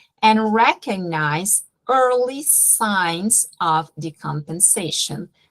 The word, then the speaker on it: decompensation: recognize early signs of decompensation. Outra palavrinha tricky, a gente fala descompensação em português, e em inglês é decompensation, é igual desfibrilar, é defibrillation, defib do patient, não tem esse S, prestem atenção.